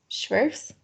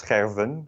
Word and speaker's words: scherven: And this is scherven with a V, because again, the F becomes a V out here.